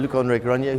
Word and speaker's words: Luc-André Granier: Yeah, I had to get the pronunciation. Luc-André Granier, who's the CEO of Advicenne, which is a Nimes, France-based company.